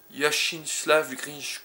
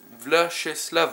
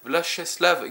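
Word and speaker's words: Vyacheslav: Donc non, c'est Vlacheslav, ouais, Vlacheslav Grinchko.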